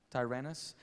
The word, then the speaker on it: Tyrannus: Tyrannus. He preaches at the school of Tyrannus.